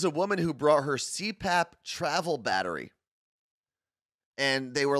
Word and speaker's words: CPAP: small travel cpap right cpap is how you say it yeah i mean i